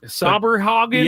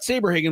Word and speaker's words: Saberhagen: lot of them didn't really remember how to pronounce his name. Sabrehogen. Yeah, they were kind of close, but we knew who they meant. Uh Brett Saberhagen was an excellent right-handed pitcher in 1985.